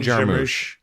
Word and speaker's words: Jarmusch: Jim Jarmusch.